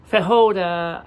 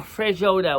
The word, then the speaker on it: feijoada: Feijoada. I kept pronouncing a feijoada, which it is pronounced feijoada. It's not pronounced feijoada. There's no R.